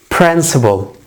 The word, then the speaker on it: principle: the next one is principal principal we pronounce these two words exactly the same